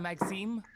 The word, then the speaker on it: Maxime: pronouncing that well. It's my Cajun roots. Madame Maxime.